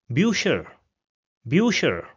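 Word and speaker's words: Bücher: So it has the pronunciation of u. So we have this word over here which means books and it will be pronounced as birer bucher.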